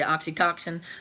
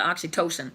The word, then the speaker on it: oxytocin: was talking about the I actually mispronounce it I say oxytoxin but most you guys knew what I was talking about but is the oxytocin the the chemical oxytocin